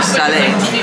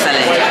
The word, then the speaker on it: salé: The caramelized apples with the caramel or salé also sounded. I think it's salé. If I pronounce that wrong, please correct me. S-A-L-E with a little thing on top.